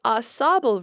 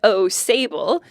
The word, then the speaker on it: Au Sable: And it's the Au Sable River, not the Au Sable.